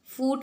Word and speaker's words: foot: फुट कहते हैं पाँव, ठीक है, फुट, पाँव। अच्छा, इसे आपको जो है फूट नहीं कहना है, ठीक है, ये गलत तरीका है। आपको कहना है फुट, ठीक है।